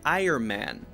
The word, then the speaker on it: Iron Man: Ironman right Ironman it's very important when you say his name to make sure the n gets in there if you say Ironman Ironman that's unclear you have to make sure the iron iron and is there before you changed to the